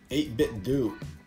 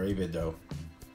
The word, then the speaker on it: 8BitDo: fc30 pro by ITB 8bit do 8bit do or avido I've heard it pronounced both wise whatever your flavor is